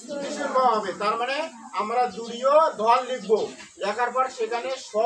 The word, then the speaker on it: দুর্যোধন: কেন উচ্চারণ করব, কারণটা হচ্ছে যে জটার উচ্চারণ, মানে যদি মধ্যাহ্ন জ বা যে জ থাকুক অন্তস্থিত থাকুক, এর উচ্চারণ হবে ইয়র মতো হবে, তাই না, আমরা শিখেছি। তাহলে ওই জর জায়গায় আমরা ইয় উচ্চারণ করবো, তাহলে ইয় উচ্চারণ করলে দু ইয়, তাহলে দু ইয়, তারপর কি আছে ধ, ঠিক আছে, তারপর কি আছে ন, তাহলে দুর্যোধন।